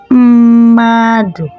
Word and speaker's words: mmadụ: When you take a look at the spelling, you will see that it started with two me, that is two m. But when you're pronouncing it, the first m sounds like then we have madu. So it simply means that the first m is functioning as vowel, while the second m is functioning as consonant.